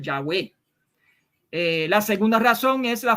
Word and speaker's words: Yahweh: isaías 12 2 que tiene un sonido como ao largo debajo de la ior se pronuncia como ya eso es una de las razones por las que los eruditos hebreo favorecen la pronunciación del yagüe la segunda razón es